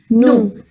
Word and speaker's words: nous: Similarly, in NOUS also the last letter S is silent. And VOUS was woo. NOUS will be no.